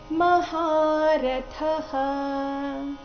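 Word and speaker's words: ಮಹಾರಥಃ: ಮೇಲೆ ಆಘಾತ ಬರಬೇಕು ದ್ರುಪದಶ್ಚ ಮಹಾರಥಹ ಮಹಾರಥಹ ಇಲ್ಲಿ ಮಹಾರಥ ಇದೆ ಮಹಾ ಇಲ್ಲ ಮಹಾ ಮರ್ಬೇಕು ಮ ಅಲ್ಲ ಮಹಾರಥಹ ಥ ಮಹಾಪ್ರಾಣ ಅದರ ನಂತರ ಬಂದ ವಿಸರ್ಗದ ಉಚ್ಚಾರಣೆ ಹ ಅಥವಾ ಹ ಎರಡು ಸರಿಯಾಗಿದೆ ದ್ರುಪದಶ್ಚ ಮಹಾರಥಹ ಪೂರ್ತಿ ಶ್ಲೋಕ ಅತ್ರ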